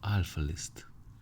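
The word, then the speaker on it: 'a list: this is why it has Alpha list pronounced alphalist Alpha I thought any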